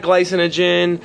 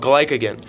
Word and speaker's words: glycogen: And I might have the word kind of mispronounced, but it's not glycinogen, it's not glucose, not any of those. It's called glycogen.